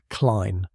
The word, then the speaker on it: Klene: Next, I revisited Professor Klene, pronunciation Klene, like line, the musicologist who decoded the cipher.